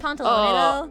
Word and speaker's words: Pantalone: Pantalone him and pantalone though.